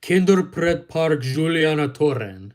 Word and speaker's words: Kinderpretpark Julianatoren: They're the two cute and adorable mice mascots of the children's theme park known as Kinderpretpark Julianatoren. All right, that's the correct pronunciation.